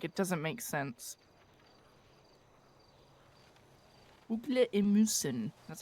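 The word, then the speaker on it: ugler i mosen: Ugle emusen.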